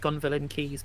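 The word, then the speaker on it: Gonville and Caius: am than the other I know it's pronounced gon villain keys but okay well okay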